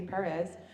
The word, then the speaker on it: Perez: Okay, so Jimmy Perez, I got to say it right, Jimmy Perez, is a swarthy character in the books and in the TV show.